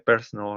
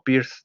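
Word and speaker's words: Peirce: cierto hago la acotación se pronuncia persona no pierce no éste y pues bueno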